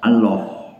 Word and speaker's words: Allah: kita adalah Allah ya membacanya bukan Allah ya membac bukan Allah Allah lamnya lam yang tebal Allah sebagian dari kawan-kawan kita